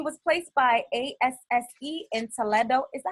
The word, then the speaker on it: Toledo: And he was placed by ASSE in Toledo. Is that how you say it? Toledo, Ohio? Toledo, Ohio.